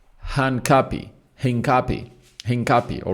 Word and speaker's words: Hincapié: or Hanapi, you know, Henapy. Is it Hanapi? Henapy, you know, the name really is really one of those hard ones to pronounce, but it's Hanapi.